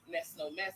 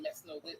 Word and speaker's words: Mess No Mess: were saying my name, you act like you couldn't pronounce Mess No Mess, and you were saying Mess No Lit like you couldn't say it.